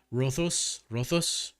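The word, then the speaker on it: Ρόδος: In the English translated version of the words like rhodos, the D is pronounced like th. So rothos, like that.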